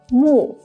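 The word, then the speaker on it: 木: with this component this one by itself is pronounced as mu mu means tree or wood doesn't this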